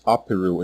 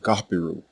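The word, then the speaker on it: ʿApiru: You will see this normalized as Apiru in English, because English does not have this letter, or its equivalent sound. But what it sounded like when native Egyptians pronounced it was more like Gapiru.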